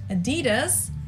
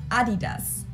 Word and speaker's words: Adidas: were referring to because they usually pronounce it Adidas and in Germany we say Adidas Adidas ad Adidas super different it's the second largest